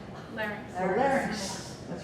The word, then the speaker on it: larynx: bone structure that's called the, say it right, Larynx.